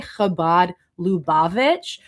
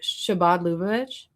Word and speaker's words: Chabad Lubavitch: He tried to say Chabad Lubavitch, but he instead pronounced the CH as a sh. And so he said Shabbat. And then instead of saying Lubavitch, he said Lubavitch. So it sounded like Shabbat Lubavitch. Shabbat Lubavitch. Shavalu Village.